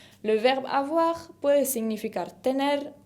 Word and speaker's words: avoir: que es le verbe avoir. Le verbe avoir puede significar tener o haber. Tener o haber. Avoir, con la R final que se pronuncia de la garganta.